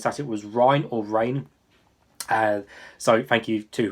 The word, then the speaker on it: Reign: for me uh because it's a silent june of course it's not spelled like reinhardt as in ryan from overwatch so he's got a silent g so this one is